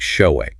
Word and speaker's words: Shaowei: So saying, "Hi, I'm Shaowei. It's pronounced like show-way."